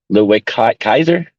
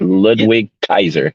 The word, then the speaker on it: Ludwig Kaiser: 2023 Royal Rumble winner Cody Rhodes versus uh Louis Kaiser is that that's how you say it Ludwig Kaiser that's it yeah um they killed it they